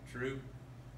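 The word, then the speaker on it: trub: You're collecting, this is called troop. How do you say it, Owen? Troop.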